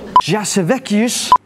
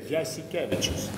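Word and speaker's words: Jasikevičius: Jasevekius. Did I say it bad? Jasikevicius. Jasikevicius.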